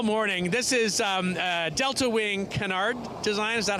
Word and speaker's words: canard: This is Delta Wing Canard design.